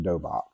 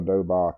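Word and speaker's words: 도복: Um, let me see if I can find, I think that's spelled Dohbock. Of course, I don't have that in my notes, but I know it's pronounced dobak. In Korean, it's called a dobak.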